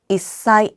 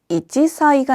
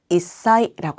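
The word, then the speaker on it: いっさい: 이사이 이때는 이지사이가 아니라 이사이라고 합니다.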